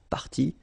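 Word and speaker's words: parties: what you will pronounce, the good news is that you won't pronounce these s or s. Okay? So it will go like party party and then here same thing party party and party.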